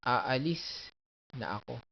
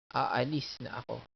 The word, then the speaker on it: aalis na ako: So, those are the accents. Aalis na ako. A. Aalis na ako.